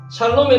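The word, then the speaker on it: שָׁלוֹם: 샬롬에 나올 때 시인이 나오죠. 그죠? 그래서 시 발음이고요. 밑에가 아가 돼 있죠. 샬롬 이렇게 읽는 겁니다.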